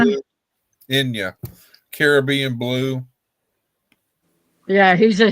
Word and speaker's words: Enya: Oh gosh, how do you pronounce her name? Anya or something like that. Caribbean Enya. Blue. Enya.